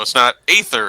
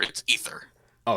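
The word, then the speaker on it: Aether: proper pronunciation of ether so it's not ather it's ether oh it's ether I always I always thought it was tell be ather uh nopes it's ether drift and like uh gant's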